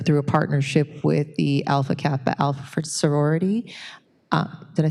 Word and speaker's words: Alpha Kappa Alpha: And that is through a partnership with the Alpha Kappa Alpha sorority.